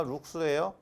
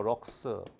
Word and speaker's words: 룩스: 룩스 또는 뭐 럭스.